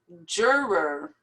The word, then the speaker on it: juror: you just say coco juror this is difficult because there's two r's here juror affidavit affidavit a